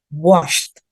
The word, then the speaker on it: washed: Tapi bacanya nggak lagi kayak decided, tapi bacanya washed. Washed. Pakai T dia ternyata. ED itu berubah jadi T.